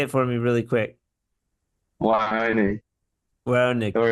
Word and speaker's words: Weihoneg: So the W makes sort of a V sound. It's German.